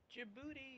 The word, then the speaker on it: Djibouti: It's spelled D-J-U. The D is silent, huh? Djibouti!